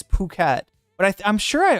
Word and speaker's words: Phuket: When you see the ph, it's not bucket, it's puket.